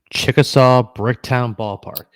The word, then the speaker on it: Chickasaw Bricktown Ballpark: You guys play in Chickasaw Bricktown Ballpark. Okay, yes. I want to make sure I got that pronounced correctly.